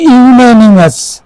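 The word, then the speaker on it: unanimous: না আনমাস এটি হল আমাদের জিজ্ঞাসা উচ্চারণটি হল ইউনিমাস উচ্চারণটি ইউনিমাস মানে একমত বা সর্বসম্মত উচ্চারণটি ইউনিমাস ডি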